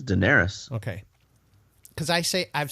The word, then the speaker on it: Daenerys: It's Daenerys.